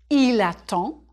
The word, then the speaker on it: il attend: J'attends, tu attends, il attend, nous attendons, vous attendez, ils attendent. Il attend, singulier. There's no E after the D, so you don't say the D.